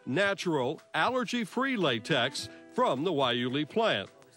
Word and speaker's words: guayule: plant produces domestic rubber it's pronounced wuli it may be the